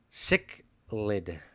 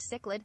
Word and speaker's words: cichlid: i don't know guys it's pronounced sick lid okay let's see what google says or my translator just realm it's pronounced cichlid cichlid cichlid cichlid cichlid